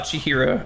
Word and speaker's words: Chihiro: Isn't it ch as in cheese and hero? Chihiro? Ah, Chihiro.